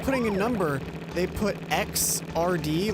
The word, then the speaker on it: Xrd: a number, they put XRD, like you know how first would be 1 ST? Right. Like it's X and then superscript RD, and it's pronounced Xrd.